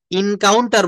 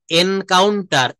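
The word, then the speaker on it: encounter: দেখেন আমরা অনেকে ভুল করে। ইনকাউন্টার বলে ফেলি। নো এনকাউন্টার।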